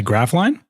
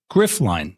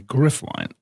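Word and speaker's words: Gryphline: So, this this stream segment is sponsored is presented by Graphline or sorry, let me say their name correctly. No, I did say it right. Griff line. Sorry. Griff line.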